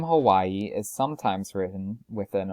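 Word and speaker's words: Hawaiʻi: describe it is that it sounds like a slight pause or hesitation both spellings are correct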